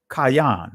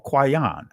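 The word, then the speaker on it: קין: Kayan or Kwayan. I'm going to touch on Abel, Habal. Those are the ancient Hebraic pronunciations of their names, to show you and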